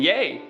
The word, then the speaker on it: Ye: I also would take it as like every time you say his name, you're saying yay. Like it's a positive. You're like, Y-A-Y, yeah.